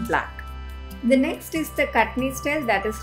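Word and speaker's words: Kachni: compulsorily outlined in black the next is the cutney style that is how that word is pronounced where we do lot of line work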